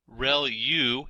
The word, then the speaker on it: ReLU: ReLU is how that is pronounced.